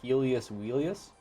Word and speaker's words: Helios Wheelius: So, Dot, you're Helios Wheelius? Yes, sir. Is that the proper way to say your full name? Yes, sir.